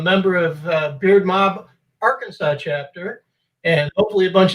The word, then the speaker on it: Arkansas: that in this state really yep our kansas mispronouncing it as our kansas has got to be arkansas no huh now for a few for a